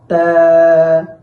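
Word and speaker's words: تاء: বা বা তারপর তা তা তা উচ্চারণের সময় জিহ্বার আগা সামনের উপরের দুই দাঁতের গোড়ার সাথে লাগাতে হবে।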